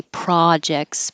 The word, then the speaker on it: projects: a d and projects Americans say projects British say project so Pro projects forget about that T it's just Jex during lockdown I got